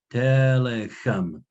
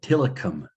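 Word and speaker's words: tillicum: to show you, well, this word is pronounced telechem, not tilicum, not the sort of Englishy settler pronunciation, but he's pointing out, oh yeah, unlike the dictionaries that I've seen in print, people actually say telechem.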